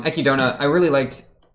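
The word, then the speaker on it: Echidna: I really liked um I actually checked the pronunciation uh ekidona EK EK I think it's um ekidona I really liked like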